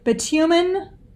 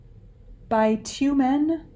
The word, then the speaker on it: bitumen: m okay sophie um are there any alternative pronunciations yes several let's see bitumen bitumen by two men bitumen bitumen sorry bitumen